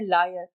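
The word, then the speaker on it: lawyer: लॉयर को कह देते हैं लायर। बेटा लॉयर है, लायर मतलब तो झूठा होता है ना, LIAR होता है, याद रखना।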